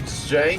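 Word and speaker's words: Zhang: dumb the AI is you said Zang f z I saw the way it's spelled there's no Z in there but it's like it's j like it's like a hard Z like the enemy officer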